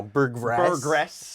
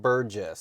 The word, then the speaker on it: Burgess: I want to hear this UGL right now Burress it's Burgess is is your uh Insurance Progressive yeah brogressive